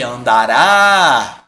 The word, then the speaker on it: andará: Agora aqui, andará, né? Eu tenho uma oxítona terminada em aeoem, aerotrem, né? Como a gente brincou na aula. Então eu tenho que acentuar, certo?